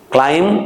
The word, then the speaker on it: climb: climb බ කියන්න එපා. M එකයි B එකයි එනකොට M එකයි B එකයි එනකොට අපි B එක කියන්නේ pronunciations වලදී B එක pronounce කරන්නේ නැහැ. හරිද?